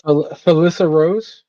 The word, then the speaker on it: Felissa Rose: While we're waiting for the getting situated too, another fun fact: how do you pronounce the actor's name? Um, Which one? Angela. It's Felissa Rose.